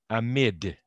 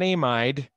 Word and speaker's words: amide: are isopropyls lithium diisopropyl and careful how you pronounce this it's an amid not an amide they're spelled the same but in a mid